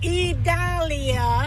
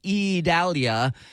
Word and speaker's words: Idalia: yes now that you have got the name idalia Italia please tell Governor DeSantis that it's not